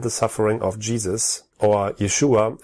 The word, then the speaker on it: Yeshua: suffering of Jesus or Yeshua as his name is pronounced in Hebrew is already foreshadowed within